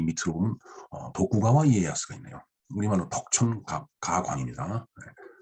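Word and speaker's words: 徳川家康: 그 다음에 이제 이 밑으로 보면 도쿠가와 이에야스가 있네요. 우리말로 덕천가광입니다. 덕을 도쿠라고 이제 음독을 하죠. 그 다음에 내천자를 가와라고 합니다. 그 다음에 집가자를 이에라고 읽죠. 강을 야스라고 읽네요.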